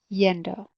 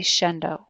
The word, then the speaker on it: yendo: ends in a vowel change the endo to yendo or I would say Shen doe with my Castellano accent they're shunned oh so